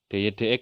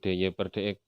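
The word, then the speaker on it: dy/dx: dy dx ya, bacanya jangan dy per dx.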